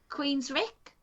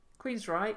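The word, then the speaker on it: Queensrÿche: I don't know how to pronounce this one. Don't know that one either. Queens Rick. Queens Reich.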